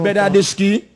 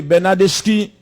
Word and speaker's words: Bernardeschi: Oui, Bernardeschi. Pénalité pour FC Barcelone. Bernardeschi. Oui, c'est Bernardeschi. Oui. C'est 2 C pour prononcer chi.